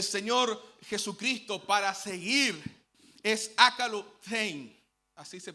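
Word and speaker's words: ἀκολουθεῖν: Nosotros vamos a encontrar en el verso 12 que la palabra que utiliza el Señor Jesucristo para seguir es akalothein, así se pronuncia, akalothein.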